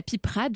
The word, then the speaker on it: piperade: Et la piperade, donc on en avait déjà un petit peu parlé avec le Pays Basque. On prononce comment on dit, la piperade.